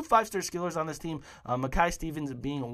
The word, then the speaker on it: Mackay-Stevens: Gary Mackay-Stevens from Dundee United as well, the Scotman, that's how you say it.